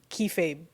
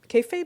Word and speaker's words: kayfabe: Kayfabe. One more. One more again, babe. One more. I don't know how to say it. Kayfabe. Yeah, you got it right the second time.